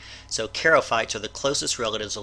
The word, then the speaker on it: charophytes: We talked about charophytes or charophytes. I believe that CH is pronounced with a K sound. So charophytes are the closest relatives of land plants.